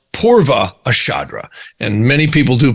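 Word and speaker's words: Purva Ashadha: to join the next nakshakra back which is pronounced purva ashadra and many people do pronounce these differently but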